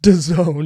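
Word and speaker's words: DAZN: these games on on a past episode uh Doone that's da AZN which is pronounced Doone amazingly I love American branding it's very stupid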